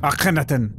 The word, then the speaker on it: Akhenaten: Akhenaten.